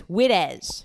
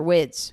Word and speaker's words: Widdes: It's spelled Widdes, but it's Widez, not Wides or Wids.